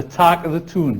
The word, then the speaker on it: Talk of the Toon: Karen Corrigan for the tack of the tune that's how it should be pronounced I'm kind of sorry